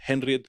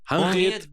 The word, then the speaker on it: Henriette: No, Henriette? it's en. Maybe. The H is silent.